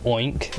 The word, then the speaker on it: oink: Do you know that in the word oink is actually an O-I-N-G-K sound? Wait, what? Yeah, Wink. oink. There's actually a G in there that you don't write. But pronunciation-wise, it's in there.